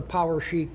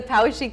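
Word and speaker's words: Poweshiek: julian would correct me it's like the power chic skitterling you're so close you're so close pick it up the pow chic skipperling skipper well sue took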